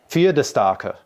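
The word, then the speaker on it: Pferdestärke: P-F-E-R-D-E-S-T-A, K-A with an umlaut R-K-E, which I looked up and I think it is pronounced, I'm going to destroy this horribly. Please do. Fiedestarke.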